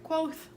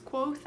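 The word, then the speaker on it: Kvothe: this and we follow clothes or I'm sorry quoth is that I'm pretty sure that's how you pronounce it it like gives you a pronunciation in the book it's quoth I think anyway we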